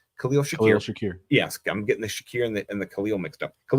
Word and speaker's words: Khalil Shakir: After that, it's Curtis Samuel, and then I'm saying his name wrong. Khalil Shakir.